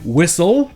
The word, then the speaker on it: whistle: Le T muet. Il existe des mots où le T ne se prononce jamais, comme par exemple les mots qui se terminent en STLE, comme le verbe to whistle, qui veut dire siffler, ou encore wrestle, qui veut dire lutter.